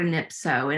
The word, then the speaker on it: anypso: And then I came across the Greek word for elevate, and it's the word anypso, and it rhymes with calypso.